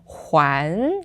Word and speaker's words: 还: So the very last definition of this word, we're going to go to the pronunciation huán, second tone. Instead of hai, we have huán, which means to give back or return.